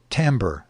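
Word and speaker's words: timbre: moaned in a hollow timber timber is how to pronounce that i i just found that out for neither he nor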